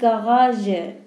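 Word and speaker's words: Garage: پس میگن دی گاراژه. گاراژه. اون گ دوم، گ که تقریبا آخر کلمه است، ژ تلفظ میشه چون این واژه آلمانی نیست.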